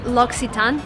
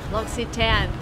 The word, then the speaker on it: L'Occitane: before I asked them so it's L'Occitane just wanna make sure L'Occitane we're in America Bugsy ten I think